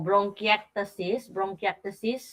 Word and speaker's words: bronchiectasis: So, ang tamang pronunciation nung sinasabi mo, bronchiectasis.